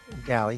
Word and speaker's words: Daly: This one is with Matt Daly, or perhaps it's pronounced Daly. Daly, thank you, production.